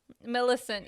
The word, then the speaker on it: Millicent: the millicent yeah like it's my immediate thought would be like maleficent but it's millicent my listen yeah yeah i'm